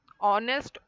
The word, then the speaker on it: honest: then in last one honest honor our air here H is silent here letter H is silent okay try and make